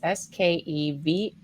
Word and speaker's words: Skevofilax: His last name is Skevofilax, and it's said just like it's spelled, which I love, Manny.